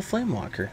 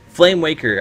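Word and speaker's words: Flamewaker: stays alive and I never pull a flame Walker that's the problem flame flame flame Waker flame Waker I've been saying it wrong this entire time flame Waker that's the name of the of the card okay all right flame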